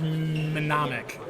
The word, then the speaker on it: mnemonic: And Kaylee went back to his preferred Game of Thrones, Johnny Mnemonic, and Captain Fantastic. Is that how you pronounce that? I thought it was mnemonic. Mnemonic. It's a silent M.